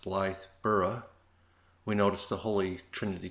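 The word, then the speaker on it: Blythburgh: small English village of Blythe Berg I think it's pronounced Blythe borough we noticed the holy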